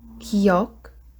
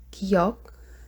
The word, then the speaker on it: 기역: So our consonants, we have the first one is 기역, 기역. That's how you say it. But the sound that it make when you combine with the vowels is close to G, like for guns.